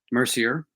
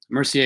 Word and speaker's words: Mercier: my name is Mercier Mercier is the indigenous way to say it you can say either